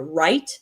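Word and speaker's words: write: Yeah, right is another great one. We don't pronounce the W.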